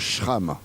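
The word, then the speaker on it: Schramková: Il faut bien dire Shram. J'ai vérifié auprès d'elle.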